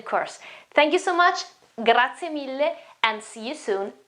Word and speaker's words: grazie: absolutely it's not new for you, but the pronunciation is grazie, grazie, grazie, grazie.